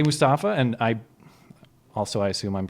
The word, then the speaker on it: Mustafa: Well, I got to say Mustafa, and I assume I'm pronouncing the first name correctly.